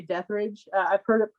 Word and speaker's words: Detherage: And I was actually is it Detheridge or Deathridge? I I usually just say Deathridge. I've heard it Yeah. pronounced several ways. The FedEx guy loves to say Rage because it's more metal.